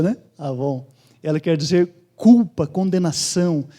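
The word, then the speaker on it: עָוֹן: A palavra que aparece ali para iniquidade, quando eu falo ela, você se lembra num produto de beleza, né? Que é Avon. Avon é a palavra hebraica aí, essa é a pronúncia, né? Avon.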